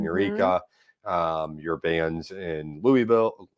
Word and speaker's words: Louisville: do you say it it's louisville you almost have you almost have to make it two syllables i say louisville because a lot of people don't know what i'm talking about when i'm when i give it the kentucky twang okay so your van's